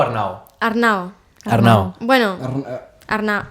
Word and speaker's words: Arnau: Com es pronuncia? Arnau o Arnau? Arnau.